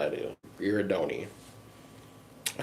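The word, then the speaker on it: Girardoni: Giradoni.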